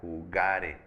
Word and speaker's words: jugare: Entonces, ojo aquí también, si yo digo yo jugare, fíjate cómo lo estoy pronunciando. La sílaba tónica es ga, jugare.